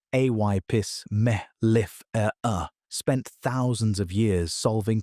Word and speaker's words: Apis mellifera: Two populations of the same species, Apis mellifera, pronounced a y pis mel if er er, spent thousands of years solving completely different problems.